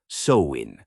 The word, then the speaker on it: Samhain: Picture the ancient Kelts in what's now Ireland, Scotland, and parts of France, celebrating a festival called Samhine, pronounced Soin for those keeping score.